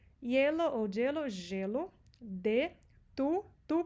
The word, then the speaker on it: hielo: Aqui você vai notar que muitas vezes você vai ouvir gelo e não hielo. Se escreve com H, tem gente que fala yellow, a maioria das pessoas falam gelo, como se tivesse escrito com Y.